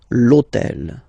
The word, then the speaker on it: l'hôtel: H, but remember that in French we don't pronounce H. Okay, so basically the first sound of the word is the vowel O. Okay, so for the same reason, needs to disappear. L'hôtel.